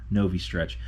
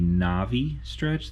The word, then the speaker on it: Novistretch: everything from novi stretch i'm pretty sure that's how you pronounce it no v stretch i don't think it would be navi stretch that seems kind of weird so i believe it's novi stretch this is everything they